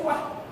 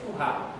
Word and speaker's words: Tuah: orang tuha tuan so TW cannot be pronounced or read as Tuah ST It should be read as tuha or to as I